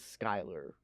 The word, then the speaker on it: Schuyler: and the the the girl's last name pronounced is skyler correct yeah yes it's spelled schuler schuyler is it what they you yeah it's s-c-h-u-y-l-er but it's skyler i paid attention this